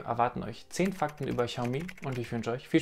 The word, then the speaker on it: Xiaomi: Offiziell soll das X wohl ausgesprochen werden wie das CH in weich, also Xiaomi scheint wohl richtig zu sein.